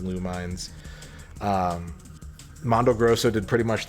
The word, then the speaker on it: Lumines: If you've ever played Lumines, or I always call it Luminous, but I think it's actually pronounced Lumines.